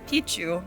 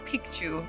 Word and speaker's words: Picchu: means Old Mountain but there's a slight variation in the pronunciation of Pichu so Pichu means penis and piku means Mountain so most of us have been making this mistake our whole life so when we say